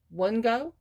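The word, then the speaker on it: Wunjo: these words and i'm trying to learn to pronounce them um one go one go w-u-n-j-o it stands for joy this person is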